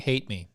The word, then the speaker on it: Hatemi: Actually, that's Pete Hate Me.